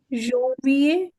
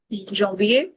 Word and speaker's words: janvier: janvier, John. John, N आ गया ना. एन इज ऑन. yeah, janvier, janvier.